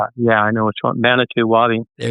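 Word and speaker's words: Manitou Wabi: Manitu Wabi.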